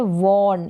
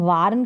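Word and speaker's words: warn: लाना bring next है वर्न इसका उच्चारण वार्न करके नहीं होगा वर्न होगा चेतावनी देना किसी को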